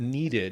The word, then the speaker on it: needed: So because of the D, I need that needed. You're all I ever needed, yeah. So you have that extra syllable, that id sound.